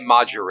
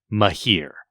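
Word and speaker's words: Majere: So I know people say it Majure.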